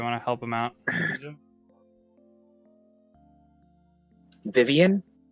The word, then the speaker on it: Vivian: Now, Vivian.